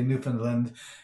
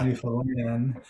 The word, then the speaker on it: Newfoundland: Well, we would never say Newfoundland. We would say Newfoundland. We wouldn't even pronounce the D on the end of the name.